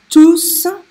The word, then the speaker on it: tous: Okay, so in the first of the examples, you have to pronounce the S because tous is a pronoun.